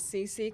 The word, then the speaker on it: Xixi: I've always been known as CC cuz when I did have like my actual name on the roll call in school, no one would be able to pronounce it. I mean, you could also argue that CC XIXi, who is going to know how to pronounce that?